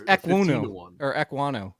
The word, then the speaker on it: Ekwonu: It's Ekwonu. That's why I don't try to pronounce this, because his name is Ikwem Ekwonu.